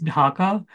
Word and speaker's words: Dhaka: I'll also tell you, I'll read out some of the cities just so you know how to pronounce them. The main city is Dhaka.